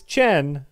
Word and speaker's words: Chen: Remember, it's Chen, not Shen.